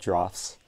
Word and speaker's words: draughts: this checkers so far this is called drafts I finally I finally figured out how to pronounce it today I'm staying at